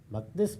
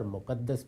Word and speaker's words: مقدس: المقدس کہا جاتا ہے۔ مقدس بھی اور مقدس بھی دونوں تلفظ صحیح ہیں۔ یہ حرم مکہ سے